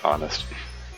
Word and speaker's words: honest: pronounce the h and honest and so you say an honest person as if it starts with a vowel anyway moving on uh